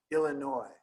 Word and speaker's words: Illinois: name of our state Illinois right ill Illinois right like why don't we pronounce the s in Illinois because it's French right and all these